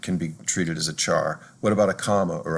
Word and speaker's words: char: double most fractions double c-h-a-r often pronounced char is actually for a